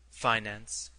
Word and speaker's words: finance: advantage of the manager the pronunciation of this word with the i long and the accent on the first syllable is one of america's most precious discoveries and possessions flag noun a colored